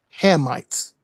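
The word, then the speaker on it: Hamites: The correct way to say it is the the correct way to say it is Hammites.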